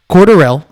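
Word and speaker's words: Cordarrelle: can you can go you can pronounce this any number of ways corduroy corduroy cordero cordero i think it's cordero it's cordero cordorelli corduroy italian win the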